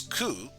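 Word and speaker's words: く: We pronounce this one as ku.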